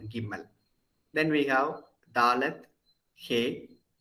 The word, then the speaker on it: Gimel: Then Gimel. So in Hebrew, it is always G. It's never Ja because there is no Ja sound.